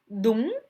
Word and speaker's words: đúng: Revenons à notre mot, đúng. UNG se prononce on. C'est comme si d'abord vous avez le OU, puisque le U en vietnamien se prononce OU, OU comme c'est OU, ou bien OU.